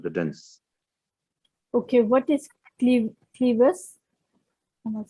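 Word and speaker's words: clivus: Okay, what is clevis?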